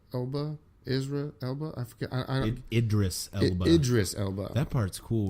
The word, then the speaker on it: Idris Elba: It's the spinoff from the Fast and the Furious, and it's got how do we pronounce his name? Is the Elba? Isra Elba? I forget. Idris Elba.